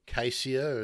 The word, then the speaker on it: caesia: We've got the eucalyptus caesia, or cassia as it's generally commonly pronounced, the the gunganu.